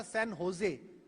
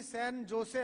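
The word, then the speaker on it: San Jose: मैं एक बार वहां से न्यूयॉर्क से कैलिफोर्निया जा रहा था, सैन होजे, एक एयरपोर्ट है सैन होजे कैलिफोर्निया के पास। उसकी स्पेलिंग तो जे से है, JOSE, पर उसे होजे बोलते हैं वो।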